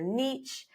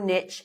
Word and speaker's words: niche: your positioning identifying your Niche or Niche however you want to pronoun I like Niche it rhymes with pitch it's easy to remember